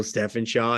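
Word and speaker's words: Stephenshaw: His name is Joe Steffenshaw. Am I pronouncing that right? Yeah. Joe Steffenshaw, and it was Miss Keeley before, and she's moved on.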